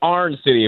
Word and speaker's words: Iron City: It's pronounced pronounced Arn City if you're out there.